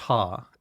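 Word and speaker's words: ห้า: That five is pronounced ha in in Thai.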